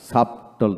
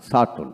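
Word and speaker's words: subtle: টি এল ই শার্টল সাপটল না সার্টল সাটল এভাবে উচ্চিত হবে মিস ডাউট মিস ডাউট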